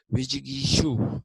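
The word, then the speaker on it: विजिगीषु: It is written Vigisu, S has an accent on the top, a line which says shoe, not su, nor shoe, but shoe. Vijigishu it is.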